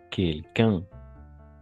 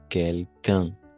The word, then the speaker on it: quelqu'un: Quel, quelque, quelqu'un. Saltamos la U. Saltamos la U. Quelqu'un. Quelqu'un. Nunca pronunciamos la U.